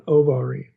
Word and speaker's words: abarim: So, abarim in the Old Testament, if we looked it up in Hebrew, it it's actually spelled with an O, an ovarim.